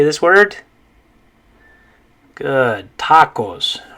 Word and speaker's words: tacos: was an english word if it were an english word we'd probably say tacos or tac tacos or tacos or something like that right but the correct way to say in spanish is tacos okay all right um